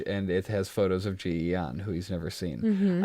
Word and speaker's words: Ji-Yeon: it has photos of Ji-Yeon, who he's never seen. Mm-hmm. I was impressed by the way Widmore said her name. The way he was like, Ji-Yeon. Like, as if it's one syllable.